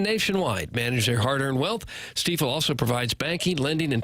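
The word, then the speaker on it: Stifel: say the word steifel it's not Stuffle it's not stifle it's steel we should know that because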